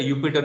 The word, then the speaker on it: Jupyter: Sometimes it is also known as a Jupyter Notebook because like J is silent in some European countries.